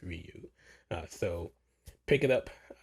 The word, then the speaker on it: Ryu: And I also want to thank him for correcting me on the correct pronunciation. I was in Stref by the Mode, calling him Rayu, but it's Ryu.